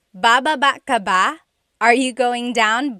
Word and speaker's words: baba: Then there's baba baba. Emphasis is on the second syllable syllable. That means to go down. Baba, like going down an elevator.